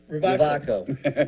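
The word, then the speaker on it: Rewaco: It's called Ravaco, I think, but it's spelled R-E-W-A-C-O. Say that again. Ravaco.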